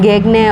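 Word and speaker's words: Gagné: और ये हमें याद रखना है कि जो गेगने ने रॉबर्ट गेगने, तो उसका प्रोनाउंसिएशन गेगने, और ये एक अमेरिकन एजुकेशनल साइकोलॉजिस्ट थे, ठीक है।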